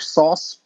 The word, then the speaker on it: SOS: That SOS or sauce system, as I believe you're supposed to pronounce it, was pretty sophisticated for its day.